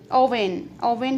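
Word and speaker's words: Rouen: He traveled extensively in Algeria, Italy, England, Brittany, Sicily, Owen है इसकी pronunciation.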